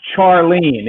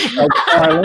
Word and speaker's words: Charlene: And her name had to be pronounced Charlene, even though it was Charlene.